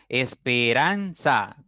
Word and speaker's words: esperanza: sigamos o veamos ejemplos Esperanza cuatro sílabas en esa palabra la mayor fuerza está en la sílaba marcada con rojo en ran Sí esa es la sílaba que pronunciamos con mayor fuerza Al momento de pronunciar